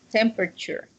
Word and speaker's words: temperature: pronunciation of this word, temperature. This so the second T doesn't sound like T. It sounds more like sh, Oh and yes, then that temperature, temperature. temperature.